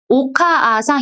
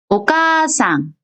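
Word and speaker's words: おかあさん: 그래서 여기 나온 거 예를 들어 보면 오카아상 이렇게 읽는 게 아니라 오카상, 오카상 카를 길게 발음하는 거예요.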